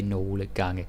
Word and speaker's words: nogle gange: Then we have nogle gange or nogle gange as it's spelled, but Danish people, myself included, we don't bother to say nogle gange. That's very textbook. So, nogle gange, just say it like that.